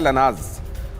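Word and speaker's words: Lanaz: Target पर Erbil की तेल रिफाइनरी, यहां की एक बड़ी महत्वपूर्ण तेल रिफाइनरी है जिसकी स्पेलिंग है LNAZ, लेकिन प्रोनाउंस किया जाता है लनाज।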